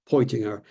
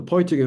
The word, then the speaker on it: Peutinger: Many of you will be familiar with it, the Peutinger map, if I pronounce it in the German fashion, Peutinger, which was created in the mid-4th century AD, this again being a reconstruction.